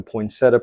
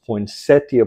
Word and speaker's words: poinsettia: today I'm talking about the poinsetta plant or the poinsettia plant depending on how you read the pronunciation but anyways I'm going